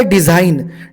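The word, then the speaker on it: design: जर का सोबत असतील कधीही जी आणि एन जर का सोबत असतील तर जी हा सायलेंट असतो ग हा प्रोनन्सिएशन आपण याच्यामध्ये करत नाही ग हा शब्द आपण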